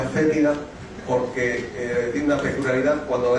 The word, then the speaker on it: fétida: Esto se pronuncia fétida porque tiene una peculiaridad: cuando esta lombriz se ve atacada, despide un olor para repeler a quien la ataca.